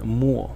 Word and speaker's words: 没: to not have there's another pronunciation of this character which is Mu mu in the fourth tone and it means to